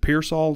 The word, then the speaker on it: Pearsall: then a wide receiver with Ricky, is it Pearsall, is that how you say it? Yeah, Pearsall.